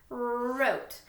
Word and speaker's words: wrote: So, W-R together says wrote, write, wreck, rap. I don't say wrote, okay? The W will be silent.